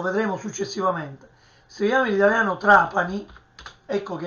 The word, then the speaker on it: Trapani: Quindi TR Trapani, in siciliano Trapani, anche questo è un suono cacuminale.